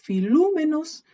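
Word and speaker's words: φιλούμενος: La épsilon con la omicron va a hacer que nazca el diptongo O y que se pronuncia U. ¿Ya? Entonces por eso nos vamos a encontrar que es filúmenos en todos los casos.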